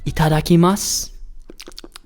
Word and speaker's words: Itadakimasu: So one more time, say it with me so that you pronounce it right. Ready? Itadakimasu.